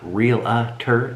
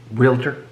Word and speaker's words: realtor: And 1 hour later, 4 p.m., Jody, our real estate agent, our realtor, somebody said, does Brad know that it's not realtor, it's realtor?